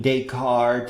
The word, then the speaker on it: Descartes: The philosophy teacher only talked about Descartes and some trivial Boolean inference.